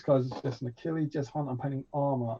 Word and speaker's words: Achilles: figured it out right it's achilles killing now isn't it great that i was saying it right this time because otherwise that would have been really embarrassing yeah it's a killing uh he's he's got